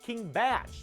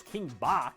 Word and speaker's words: King Bach: first kill count that it's pronounced king batch even though i mean look at that spelling you can't get mad at me for reading it as king bach there was another bach